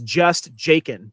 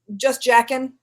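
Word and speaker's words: Jaeckin: justen is his name if you were to just read it phonetically it says just jacen but yeah say it again it's ju ju jaen yeah it's just jacken basically but yes Emmanuel is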